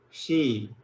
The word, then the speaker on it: xi: In English we write XI, but we pronounce it She.